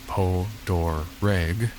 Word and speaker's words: Potereg: Potereg Island, though pronounced by locals as Po-Dor-Reg, this isolated island likely derives from the French settlers.